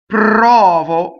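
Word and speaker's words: provo: Anyway, prɔvo, so getting to the unaccented syllable. This unaccented syllable is closed, right?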